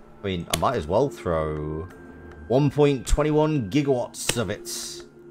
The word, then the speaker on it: gigawatt: Not gigawatts, gigawatts. Because nobody told Christopher Lloyd what the hell a gigawatt was. So he just read that as he just read that with a soft G.